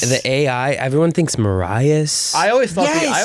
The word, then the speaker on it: Marais: And there is a silent S. There is. Like, that is... And the AI, everyone thinks Marais. I always thought Yes. I always said Marais my whole Yeah, life.